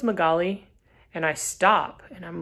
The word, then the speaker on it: Magaly: it or something and she says oh it's magaly and i stop and i'm like wait a minute what what is your name she's like it's magali i was like how do you spell it